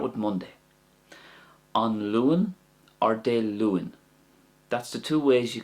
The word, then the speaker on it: Dé Luain: De Luan. I'm just trying to get that I sound in there. It's only very subtle, but it can help you get the proper pronunciation. An Luan, De Luan.